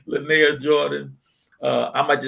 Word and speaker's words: Lynaia: giveaway night yeah you all heard it uh linear jordan did i pronounce the right lynae yes yes all right lenaya jordan uh i might just have to call